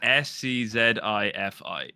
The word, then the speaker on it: SCZI: It's SCZI. So it used to be sci-fi with a Z thrown in because I played Call of Duty, right?